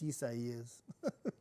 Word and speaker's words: Isaias: Like, it was like everybody came to my page to be like, correct me on how to say it. And I'm like, no. It's Isaias.